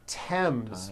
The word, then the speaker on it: Thames: reason I want to promise Thompson Teresa Thailand Thames like the river Esther and time which is